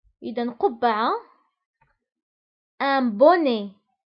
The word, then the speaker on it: bonnet: إذن قبعة، un bonnet. فبالنسبة للبوني تكتب ب2n، يعني اثنان من n، un bonnet. وأيضا تكتب بالتي في الآخر ولكن لا ننطقها.